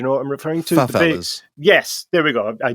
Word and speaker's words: favela: tent, almost like the, what I'm going to mispronounce it here, in South America, favelas. Do you know what I'm referring to? Favelas. Yes, there we go. I knew I would get it wrong. Favelas.